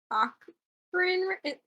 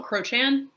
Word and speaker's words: Crochan: is she gonna be like part Cochrane? Is it Cochrane? How do you say it? Like Oh, Crochan.